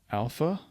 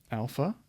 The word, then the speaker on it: alpha: so first we have Alpha as we already saw this is what capital Alpha looks like it's going to be the a sound of Father a a alpha beta